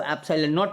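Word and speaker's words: epsilon naught: कौन सी बातें की जो ऐप साइलेंट नोट इस साइन को बोलते हैं ऐसे साइन जो आप देख रहे हैं इसको ऐप्सिलन नॉट बोलते हैं ये बातें कई बार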